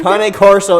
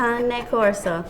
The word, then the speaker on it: Cane Corso: stop commenting down below that I'm saying it wrong. Cane Corso is how you say it. Yes, Cane Corso. 20 years breeding. I think she would know more than me. And It's not Cane Corso, people. He's not a candy cane.